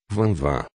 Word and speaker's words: Vinvin: mas ele gostava de ser chamado de vinvin escrito assim mas pronunciado a francêsa Vanvan ele não dizia de